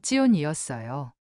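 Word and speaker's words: ציון: 요단강은 야르덴이었고 시온사는 찌온이었어요. 이런 발견들이 저에게는 작은 총격이었어요.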